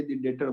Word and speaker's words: debtor: याद रखना जब डेटर वर्ड यूज करते हैं ना, तो इसमें ना बी साइलेंट होता है, हम लोग डेटर बोलते हैं, डेप्टर नहीं बोलते, डेटर, ठीक है ना, बी साइलेंट होता है।